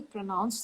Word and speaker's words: pronounce: related to how I pronounce each word. Okay. So let's take this word pronounce. Okay. Pronounce. Right? Yeah. So there is an up and down. So these are called as syllable stress.